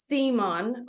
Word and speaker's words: Zemon: So today we have Matt Zemon. Am I pronouncing that correct?